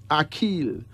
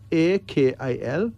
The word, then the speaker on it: Akil: Akil. A-K-I-L.